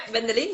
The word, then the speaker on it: Wendelien: Yeah, Wendelien.